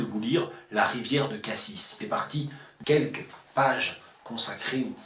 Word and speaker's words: cassis: autour de sa prononciation j'ai choisi de prononcer cassis car pour moi il s'agit bien du fruit il ne peut pas s'agir ni du toponyme ni de du dos d'âne ça n'aurait aucun sens et donc c'est bien